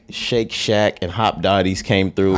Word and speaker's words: Shake Shack: Steak Shack? Is that how you say it? Shake Shack.